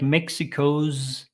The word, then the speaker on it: Mexico's: sound here challenges like Mexico's again another Zed sound so these are s letters but with a z sound Mexico zongo Mexico's ongoing